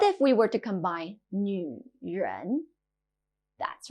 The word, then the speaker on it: 女: 女, 女. This character can be a bit difficult to pronounce. It sounds a bit like a crossover between nu and ni.